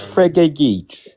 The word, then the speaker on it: Frege: How do I pronounce it? Is yeah, it it's Frege.